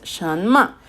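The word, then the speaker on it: 什么: Sin embargo, sí tiene un tono, segundo tono, shen ma. ¿Ok? Entonces, shen ma.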